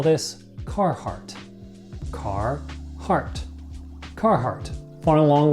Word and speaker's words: Carhartt: rest of the world and we call this Carhartt car heart Carhartt born along with a clothing